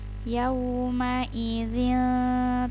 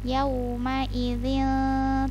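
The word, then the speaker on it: يومئذ: Jadi ikhfa itu kan dia disamarkan. Jadi pengucapan yauma idzin sama seperti yang sebelumnya, yang nunnya itu disamarkan. Jadi membacanya bukan yauma idzin, bukan yauma idzin, tuh n-nya kan sangat jelas itu. Tapi yauma idzin, jadi nunnya disamarkan, langsung kita mau menuju huruf ta menyebutkannya. Yauma idzin tuhaddi.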